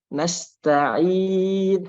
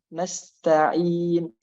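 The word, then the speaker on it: نستعين: Nasta'in harus bersih ya ketika panjangnya itu tidak ada dari hidung. Kalau alamin mungkin lebih sulit karena mim itu ada sebagian suaranya yang keluar dari hidung. Maka nanti terbawa, efeknya itu terbawa ke. Tapi kalau ain benar-benar nggak ada suara dari hidung, maka langsung mungkin lebih mudah ya.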